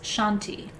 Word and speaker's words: shanti: one word mantra today and that word is shanti it's spelled s-h-a-n-t-i shanti and shanti means peace and since this